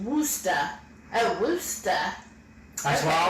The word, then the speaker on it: Worcester: said think of a city like worcester massachusetts pronounced woosta a rooster that's why i always call it